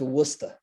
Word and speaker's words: Worcester: at first of all it's worcester worcester what's that that's how it is he's starting to talk like that now but it's spelled the way you said it but it's worcester what's the matter worcester